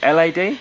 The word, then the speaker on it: LAD: was by, is it, how do you pronounce this? L-A-D? Yeah. Or Lad? Yeah. L-A-D? Yeah, so, yeah, Lad, probably, Lad, or L-A-D, it doesn't matter, they pronounce it both.